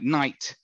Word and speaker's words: night: the past so um take a word like night uh the G and the H are not pronounced at all are they in there